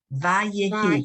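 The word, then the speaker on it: וַיְהִי: Vayehi. Oh, that's a V, yeah. Vahim Erev. Vahim, There's no mem. There's no mem there. It's just Vayehi.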